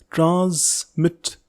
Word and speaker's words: transmit: Please remember the pronunciation of this word is transmit. जहाँ पे S है वहाँ पे Z की साउंड आनी चाहिए.